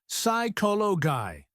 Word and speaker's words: psychology: So it's receipt psychology that P at the beginning gone it's cyolo guy and finally debt silent